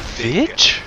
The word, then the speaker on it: Vig: It's hard G. It's not a Vig. It's a Vig.